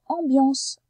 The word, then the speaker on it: ambiance: Et oui, là, le C fait S, puisqu'il est à côté d'un E. Dans ambiance, c'est dans la deuxième syllabe qu'on entend le son Y. On entend B, on entend Y, et on entend AN.